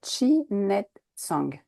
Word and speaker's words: Chi Nei Tsang: sont inspirés d'une pratique chinoise qui est le chinet song c'est ça je me suis pas trompée déjà dans la prononciation non c'est tout à fait c'est vrai